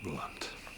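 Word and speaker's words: Blount: Alison, B-L-O-U-N-T. Same pronunciation, different spelling. Alison Blunt.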